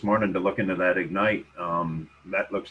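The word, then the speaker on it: Egnyte: to hear your input just so you know that's spelled e-g-n-y-t-e ignite and you brought up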